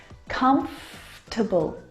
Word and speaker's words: comfortable: for dinner comfortable now this word just like vegetable has an extra vowel in there that we don't need to pronounce comfortable not comfortable or comfortable but comfortable comfortable comfortable come okay you skip that vowel sound comfortable comfortable you